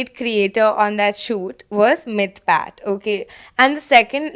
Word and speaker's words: Mythpat: for me they were all watching for Mr mythpat which I learned how to pronounce dude n so bro